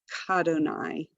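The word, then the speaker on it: כַּאדֹנָי: Very often we'll have a prefix in front of Adonai, and we don't add a syllable to it.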